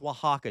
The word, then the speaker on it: Oaxaca: It's Oaxaca cheese. It's Oaxaca cheese. Okay. Okay. Loiso, how dare you? Okay. Anyway, so this is clearly Mexico. Oaxaca cheese.